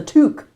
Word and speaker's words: toque: Uh, you spell it t o u q u e, but you pronounce it t o o k.